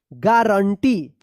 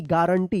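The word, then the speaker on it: guarantee: थे हम क्या पढ़ेंगे गारंटी जी यू ए आर ए एन T double E गारंटी यहां पे यू साइलेंट रहेगा ठीक है तो देखिए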